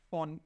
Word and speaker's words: von: Quando aqui, olha, eu tenho a preposição von, e esse von aqui eu pronuncio como se fosse um F de faca, tá?